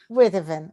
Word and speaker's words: Witteveen: I pronounce it Witteveen. Witteveen, okay.